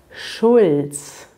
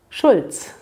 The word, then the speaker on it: Schulz: eine einzige silbe ist man kann das nicht trennen schulz dass es eine silbe und deshalb gibt es dieses kurze ich spreche es noch zwei mal für euch aus langsam und schnell schulz schulz platz 10 auf dieser